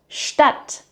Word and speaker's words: Stadt: Now compare it to Stadt, Stadt, with a short A. That means city.